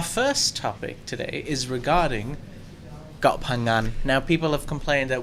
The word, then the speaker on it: Koh Phangan: It's a hard one to say. Yours is actually not that bad. Koh Phangan. For a person who can't say the NG vowel, yeah.